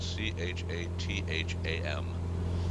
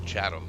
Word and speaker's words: Chatham: leg up to chatham it's actually spelled c-h-a-t-h-a-m so it's it's known as chatham if you live in the area but for every other normal human being that reads it you would pronounce it chatham you really would just